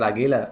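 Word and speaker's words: Águila: pronounced that right Mr agila yeah um search Mr a got to say it with like you know a little AA yeah Mr Aila like like Lilian garia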